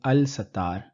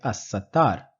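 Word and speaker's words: الستار: the cover of sins in assar I am not pronouncing the lamb in Al I'm not saying Al satar I'm pronouncing it assar the reason I'm saying is because the scene that follows the lamb in Al is included in the sun letters or shami hu in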